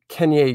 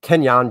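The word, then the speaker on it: Kenyan: josh is a niner uh then we got kenya drake kenyon drake sorry kenyon drake uh the names up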